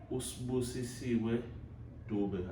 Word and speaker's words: Sibusisiwe Dube: Today I'm with Sibusisiwe Dube.